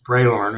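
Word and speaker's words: Bralorne: other gold systems in the was it the broad loan Pioneer gold mining cap in terms of highest grade yeah sorry um that that's braylorn is the way we pronounce it everybody pronounces it differently but it's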